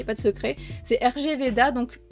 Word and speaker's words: RG Veda: C'est RG Veda, donc a priori c'est Rig Veda qu'il faut le prononcer parce que ça vient d'un texte hindou.